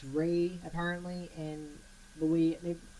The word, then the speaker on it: Ralph: to Harry Potter actors one of them was Ralph Fiennes or I guess refined I don't know hi pronounce an l ph turn that it's the British way of saying it's ray apparently and but we they get sued array